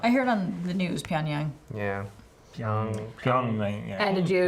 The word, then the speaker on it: Pyongyang: Calcutta and I'm sorry, how do you pronounce this again? Pyongyang.